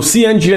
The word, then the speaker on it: cNGN: Do I say cNGN? Is that how I say it? Yes. It's basically NGN, but like a C. With a C. Got you. So cNGN is Nigeria's first regulated stablecoin.